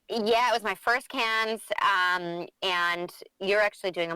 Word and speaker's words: Cannes: Yeah, it was my first cans, and you're actually doing a much better job than I am in pronouncing it the French way, can.